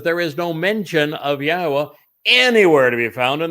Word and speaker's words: Yahweh: Yes, it says Yahweh, which is the proper pronunciation of Yahweh's name, our Elohah, God, as directed by his Torah teaching regarding his Haya existence and our Shalom restoration.